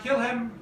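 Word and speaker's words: kilim: l i m k you can say it like kill him without an H what I me kill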